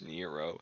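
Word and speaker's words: Nrvnqsr: of the fact that this man's name is spelled in the room sir but pronounce Nero that I just always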